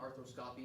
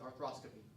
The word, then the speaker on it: arthroscopy: Well, you hillbilly, it's not arthroscopy, it's arthroscopy. You're putting the emphasis on the wrong syllable.